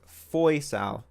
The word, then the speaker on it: Faisal: Faisal's name is pronounced Foysal.